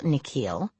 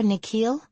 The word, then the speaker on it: Nikhil: The way the principal pronounces his new name is different from the way his parents say it. The second part of it longer, sounding like heel.